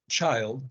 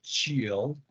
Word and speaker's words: child: it's only a child the pronunciation is child don't don't say chill or chill child Okay so you